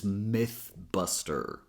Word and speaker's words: mythbuster: Careful so you don't pronounce it as e. E is a tense sound and here we want a more relaxed sound.